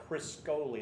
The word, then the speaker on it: Criscoli: You pronounce it Criscoli, like Crisco Criscoli, oil.